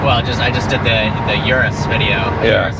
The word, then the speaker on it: Urus: Well, I just did the Urus video. Yeah. Urus S. It's like, no, it's Urus or Okay. Uranus. Yeah. Or whatever. Oh my God.